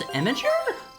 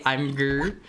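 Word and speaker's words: Imgur: It's It's pronounced Imager. Wait, really? Is that how you're supposed to say it? Imager? No way. No way. It doesn't even kind of read like that. I just say immigr. Yeah, like I've heard people say imm before. I've heard people say imm before, but I've never I've never heard imager.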